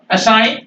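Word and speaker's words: assign: अलाइन जी नहीं बोलेंगे असाइन जी नहीं बोलेंगे क्योंकि न के पहले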